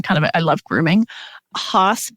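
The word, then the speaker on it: Haas: of I love grooming H brushes which is spelled ha a as and people might have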